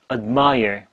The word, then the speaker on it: admire: admire. 그래서 얼핏 듣기에는 mire밖에 안 들려요. I 들리고 mire 들리는 거죠.